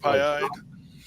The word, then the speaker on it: Pie-Eyed: Is that how you pronounce that, Charles? Yeah, pie like Pie-Eyed? Okay.